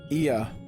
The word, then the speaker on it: Ea: When the vibration of vocal folds was still required to convey our thoughts and intentions, Ia, I believe, was the pronunciation used when referring to our people, though it is not entirely applicable given our present state.